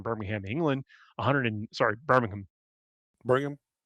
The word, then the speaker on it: Birmingham: Yeah, you have to you have to annunciate as few letters as possible. Burm is the key.